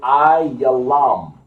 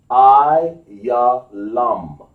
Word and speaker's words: Elam: When you see Elam, what you're seeing, Elam, in the Bible, is translated Ayalam, or over here in the Hebrew, as we spell it in the ancient Hebrew, Ayalam.